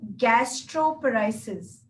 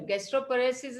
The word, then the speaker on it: gastroparesis: She says, any cure for gastroparesis? Or if maybe I'm pronouncing it, maybe I'm pronouncing it wrong.